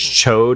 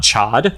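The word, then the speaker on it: Ch'od: did you know that the name of the big lizard character is Cho and not chod CH yes are you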